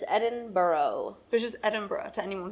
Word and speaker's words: Edinburgh: weird edinb Edinburgh Edinburgh it's not Edinburough it's Edinboro which is Edinburgh to